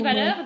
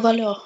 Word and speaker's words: valeur: А вот дун вулёр на конце «р» читается, да? D'une valeur, да. Дун валёр, окей.